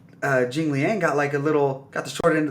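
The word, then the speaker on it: Jingliang: um, is it how do you say it, Ji Liang? Jing Liang, yeah.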